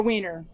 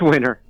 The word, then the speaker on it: Winner: Jeff, how is his last name pronounced? Winner or Wiener? It's Winner. Okay.